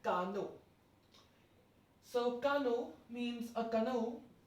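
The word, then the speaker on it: canot: Moving towards 10th one, we have le cano. Le cano. The last T is not to be pronounced, and hence the pronunciation will be like cano.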